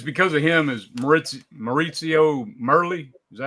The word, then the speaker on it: Maurizio Merli: It's because of him is Maurizio Merli.